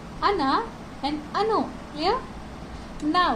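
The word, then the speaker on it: она: Stress को कैसे हमारा, जैसे है अना, अना, ओ एन आ, इसमें जो स्ट्रेस साइन है वो आ के ऊपर है, तो इसे हम अना प्रोनाउंस करेंगे, ना कि ओना। ओना नहीं प्रोनाउंस होगा।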